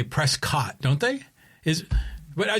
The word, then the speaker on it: Prescott: I You always say Dak Prescat like you pronounce it like Biscuit. You know, Prescott, but other people usually say Prescott, don't they?